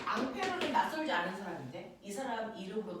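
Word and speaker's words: Ampère: 법칙 이렇게 얘기해요 자 암페어는 낯설지 않은 사람인데이 사람 이름으로 단위도 만들었는데 암어 암페어 알겠습니까 그 사람이에요 됐어 2암페어 3암페어 그 사람입니다 그 사람이 원래 프랑스 사람이라서 이름이 페르데 미국놈들이 페어라고 읽어버린 거예요 알겠어 이렇게 된 겁니다 자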